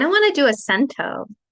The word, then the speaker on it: cento: it in the chat a chento that's sorry Say It Again Sam it means 100 in Italian yes um but I don't